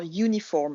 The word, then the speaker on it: uniform: Vous avez quelques exceptions, genre uniform. L'uniforme, il n'y en aura pas parce que le U, il se prononce you et il considère que quand on fait ye, c'est plus une consonne qu'une voyelle.